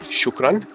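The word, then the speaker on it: شكرا: please and thank you okay thank you is shukran shukran okay okay easy thank you shukran shukran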